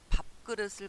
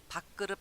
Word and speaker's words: 밥그릇: 뭐가 있는지 한번 볼까요 자 밥그릇을 갖다가 밖으로 밖으로 이렇게 읽을 때가 많죠 그 인정이 안됩니다 어떻게 읽어야 됩니까 밥그릇 이유는 왜 그럴까요 걷고